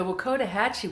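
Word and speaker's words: Wakodahatchee: Hatchi yeah Wetlands I'm finally being able to pronounce it correctly the Wakota Hachi wetlands are the place to go if you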